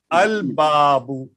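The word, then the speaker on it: الباب: So in Haruf al-Qamariya, what he wanted to tell, when these letters will come after Lam, we have to pronounce Lam. The Lam will be vocal. Al-Abu, Al-Babu, Al-Jannatu, Al-Himaru.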